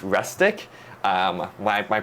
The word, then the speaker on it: Restic: um or rustic uh it might sound like I saying rustic but it's rustic um my my pronunciation